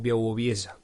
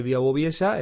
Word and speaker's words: Białowieża: unos 200 kilómetros, y se llama Białowieża, con W, es como se escribe, pero se pronuncia algo como Białowieża, o algo así.